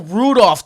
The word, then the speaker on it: Rudolph: behind Trey Burton Kyle Rudolph don't pronounce the L blah David Joe COO